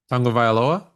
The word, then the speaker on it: Tagovailoa: Tagovailoa?